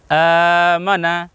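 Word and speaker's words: آمَنَا: উচ্চারণ হলো প্রথমটার আনা আমরা যদি একসঙ্গে বলি তাহলে উচ্চারণ হবে আমানা আমানা আমরা আয়ে কেন একটু টান লম্বা করছি উচ্চারণ বেশি করছি কারণ হলো আলিফের উপর খাড়া জবর আছে প্রিয় দর্শক খাড়া জবর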